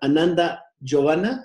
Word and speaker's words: Ananda Giovanna: les doy la bienvenida a Perla Xochitl, a Ananda Giovanna, así se pronuncia, a Ananda Giovanna y a Mayra Bet, a este procedimiento de las entrevistas.